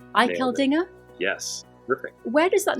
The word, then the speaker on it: Eicheldinger: right the second time now you got it iel Dinger iel Dinger yes teric where does that name come from